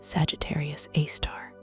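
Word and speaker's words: Sagittarius A*: A supermassive black hole known as Sagittarius A, pronounced Sagittarius A star.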